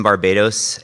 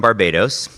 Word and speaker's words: Barbados: I think my experience in Barbados and the Eastern Caribbean really have shaped me,